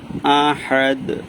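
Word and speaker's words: أَحَدٌ: ওয়ালাম ইয়াকুল্লাহু কুফুয়ান কুফুয়ান আহাদ ওয়ালাম ইয়াকুল্লাহু কুফুয়ান না কুফু হবে কুফুয়ান আহাদ আ এখানে আ হবে আলিফ জবর আটা হচ্ছে আলিফ দিয়ে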